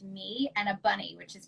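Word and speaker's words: 米: an emoji of a rice bowl which is pronounced me and a bunny which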